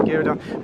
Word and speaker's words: Ghirardelli: I don't know how you pronounce that. It's Ghirardelli.